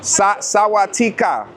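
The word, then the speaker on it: สวัสดีค่ะ: Sawatika.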